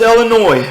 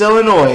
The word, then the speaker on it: Illinois: We have decided that we will no longer stand for how you pronounce Illinois. What? The S is silent.